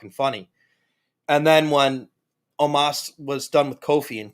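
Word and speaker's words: Omos: i found out his they were pronouncing it omas so i'll do my best to remember that it's pronounced omas but there were a couple times in that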